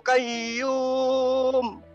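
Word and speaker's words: الْقَيُّومُ: Allahu la ilaha illa huwal hayyul qayyum. Harus tasdid. Huruf ya itu tasdid.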